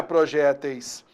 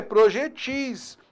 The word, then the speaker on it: projetis: Plural de projetil não é projéteis. O plural de projetil é projetis.